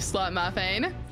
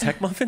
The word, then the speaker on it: Tech Muffin: Okay, I meant to conjure somebody else, you slut muffin. His name is pronounced Tech Muffin. I don't think it's pronounced Slut Muffin, but I do get those names confused sometimes.